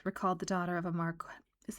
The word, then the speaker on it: Marquis: the daughter of a Marqu is it Marquest or Marquez? Let's find out. Marquist me. Marquis. Marquis. Really? Is Is that the way we'd pronounce it in Canada?